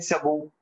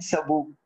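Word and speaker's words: sabot: इसको प्रोनाउंस कैसे करेंगे, तो टी साइलेंट है और ई को ए पढ़ना है, कोर एंड सबू इसकी प्रोनाउंसिएशन, मतलब ये मैंने घर आके देखी कि क्या प्रोनाउंसिएशन है उस वक्त।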